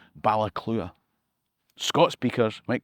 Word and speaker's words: Baile Clutha: That river runs through Alexandria, just past Galloway, all the way down to the town that the locals incorrectly pronounce Balclutha. Gaelic speakers will know it should really be called Ballaclua.